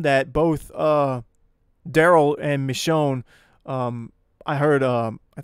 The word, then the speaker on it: Michonne: names so it's it's I believe it's pronounced michon so her and Daryl like